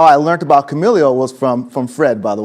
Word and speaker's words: Kamailio: Kamailio.